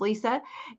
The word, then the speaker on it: Leisa: I'm Leisa Reid. Yeah, my name's spelled a little funny, but it's pronounced Lisa.